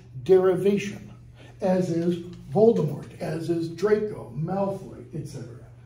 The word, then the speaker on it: Voldemort: put their faith in Boulder American pronunciation Voldemort because we pronounce those final consonants if you're French you don't pronounce final consonants so it's Voldemort Vol from Lenten Volare